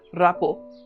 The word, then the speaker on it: rapport: वो state of mind है रैपो, जो रैपोर का दूसरा कॉमन प्रोनाउंसिएशन भी है।